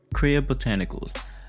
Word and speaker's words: Kriya Botanicals: Kriya Botanicals, that's the pronunciation, that's what I'm gonna be using today.